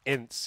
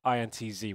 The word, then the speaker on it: INTZ: from the ceo and apparently ince is not the correct name to pronounce it it's intz we should be calling them